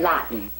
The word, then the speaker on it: Lawton: my fiancee fred fred lawton it rhymes with rotten i told you to